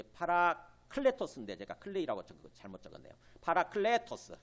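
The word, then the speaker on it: παράκλητος: 파라클레토스, 클레 애가 좀 긴 발음이에요.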